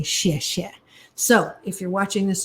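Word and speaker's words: 谢谢: So as you say xie xie, S-H-E-A, some places phonetically write X-I-E, but I use it like it sounds, not S-H-I-T, but S-H-E-A, and say xie xie, thank you.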